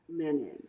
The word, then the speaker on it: Menen: How do you pronounce it? Menen. Menen.